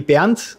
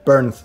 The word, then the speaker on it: Bernth: So it actually would be BERNTH, but you can also say BERNTH if you prefer that.